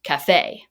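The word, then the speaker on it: café: Is this word pronounced cafe or cafe? Well, let's look at where the accent mark is. The accent mark is on this syllable, the fay. So, cafe or cafe. This is pronounced cafe. The emphasis is on that syllable.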